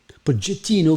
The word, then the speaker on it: Pochettino: Alors, il y a un débat sur sa prononciation, hein, Pochettino. A priori, c'est Pochettino qui prend la corde puisqu'il est argentin.